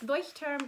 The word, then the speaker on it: Leuchtturm: since i speak german i just say it as you would in german so i'm so sorry that doesn't make sense but it's it's voice term 1917.